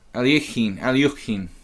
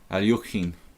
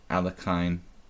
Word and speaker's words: Alekhine: Alyukhin. I try to pronounce it the Russian way, but I'm not very good. Alyukhin. Sellsword says, here, still in America, all we ever see is Alekhine.